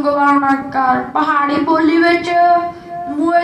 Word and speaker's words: मुए: रसना हर रस चाख मुए मुए दा उच्चारण मुए करना है, क्योंकि मम्मे नु अंकड़ ये नु लाम है मुए।